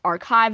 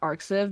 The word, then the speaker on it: arXiv: Also, it's technically pronounced archive, not arsive, because the ax is a Greek letter kai.